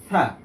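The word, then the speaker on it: ث: তাহলে এটা হয়ে যাবে থা থা। থা উচ্চারণের ক্ষেত্রে জিহ্বার যে আগা আছে, আগাটা সামনের দাঁতের আগার সাথে লাগবে। এই ক্ষেত্রে থার সঠিক উচ্চারণটা ভিতর থেকে হয়ে আসবে, যেমন থা থা।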